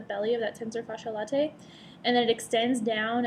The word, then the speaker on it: latae: So you can pronounce the latae part how you want, but that's what makes sense to me is that latae because it's L-A-T-A-E.